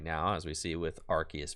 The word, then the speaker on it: Arceus: the scoop let's go arceus that's the way it's supposed to be pronounced if i'm going to